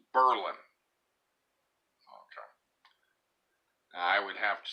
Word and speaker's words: Berlin: it's spelled like Berlin but locally it is pronounced Berlin I would have to say it's clearly named after the city in Germany Berlin but it is pronounced locally Berlin but that is a big riving tourist town